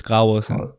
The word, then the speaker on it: Graversen: But the V is like semi-silent, so it's Graversen.